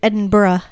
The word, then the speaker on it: Edinburgh: see elton john there and edinburgh which is not how it's spelled it's spelled enberg but it's at edinburgh it's edinburgh edinburgh glasgow glasgow those two